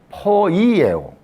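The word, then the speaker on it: ποιέω: 포이에요. 정확한 발음은 그렇죠. 포이에요. 포이에요.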